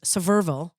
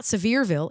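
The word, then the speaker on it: Sevierville: And then there's even one in there's Severville because that's how you say it, right? It's not Severeville, it's Seville.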